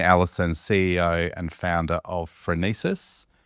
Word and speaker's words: Phronesis: I've got a special guest with me, Shane Allison, CEO and founder of Phronesis. Am I saying it right? We did talk about this off camera. You've nailed it. Phronesis, tell me what the origin is.